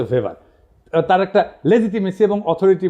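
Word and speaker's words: Max Weber: না আরেকজন দার্শনিক আছে ম্যাক্স ভেভার এটা ওয়েভার বলে অনেকে এটা উচ্চারণ আসলে ভেভার তার একটা লেজিটিমেসি এবং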